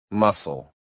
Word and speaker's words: muscle: Silent. C. Scene. Scene. Scene. Science. Science. Science. Muscle. Muscle. Muscle. Fascinate. Fascinate. Fascinate. Disciple. Disciple. Disciple. That C is just chilling there, not making a sound.